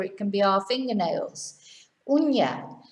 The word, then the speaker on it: uña: Uña. Whereas una, of course, is the number one, or a, like a house, una casa. So remember the difference. Año, ano. Moño, mono. Uña, una. Very important.